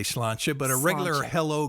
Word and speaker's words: Sláinte: Sláinte. You got a little Sláinte. happiness to it. Maybe the That's last syllable goes up, perhaps. A little Sláinte. bit. Sláinte, and clink your glass together.